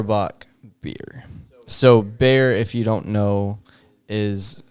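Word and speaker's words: Bexar: is in um and bear is spelled b-e-x-a-r uh so this is some people not from here call it bizarre county i don't know why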